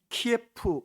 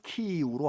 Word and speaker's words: 키이우: 13세기까지 그들은 키예프 공국이었습니다. 한 나라였어요. 우크라이나의 수도가 키예프입니다. 그런데 이게 이제 러시아 발음이므로 지금은 우크라이나 발음인 키이우로 하자, 그렇게 되어 있죠.